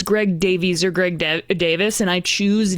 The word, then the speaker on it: Davies: the uh the Kinks, it's spelled in a way that Americans would pronounce Davies, but it's pronounced in Britain as Davis.